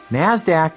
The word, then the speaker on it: Nasdaq: stock exchange nyse and the nasdaq which is pronounced nasdaq nasdaq stands for the national association of securities dealers